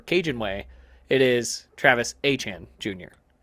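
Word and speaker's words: Etienne: who is now now that he's in New Orleans and is pronouncing it the proper cinjun way it is Travis Aan Jr.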